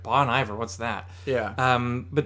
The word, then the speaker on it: Bon Iver: this self-titled album by bon iver okay and do you see how i spell it at the top b-a-w-n space e-y-e space v you are bon iver